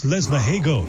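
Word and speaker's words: Lesmahagow: It's Lesmahago, thank you.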